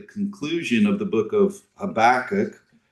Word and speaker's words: Habakkuk: of the book of Habakkuk, or for those of you with British pronunciations, Habakkuk. Habakkuk is, in one sense,